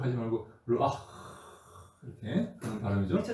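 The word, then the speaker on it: רוח: 이렇게 흑 하지 말고 르아 이렇게 하는 바람이죠 그 전에 흐라고 발음 안 나오고 예 르아 그냥 좀 이렇게 좀 세게 세게 발음해야 되 세게 우리 좀 살살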